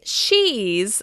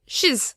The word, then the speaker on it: she's: It sounds more like We don't say she's, we say shiz.